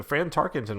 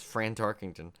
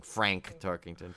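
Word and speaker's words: Fran Tarkenton: who the hell is fran tarkington and they're probably thinking no in in all honesty he's probably thinking they're probably all thinking we're just mispronouncing frank tarkington but no it is fran tarkin friend tarkington yes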